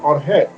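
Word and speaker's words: ὀργή: La palabra ira viene del término griego orge. Tiene acento en la E.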